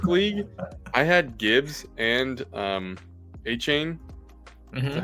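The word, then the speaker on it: Achane: And then in my work league, I had Gibbs and A-Chain.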